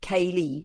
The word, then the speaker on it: Kali: Kali, pronounced Kali, is one of the most profound and fearsome goddesses of Hindu tradition.